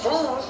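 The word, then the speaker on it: Vieaux: But no, my name is spelled V-I-E-A-U-X. That is how you spell Vu.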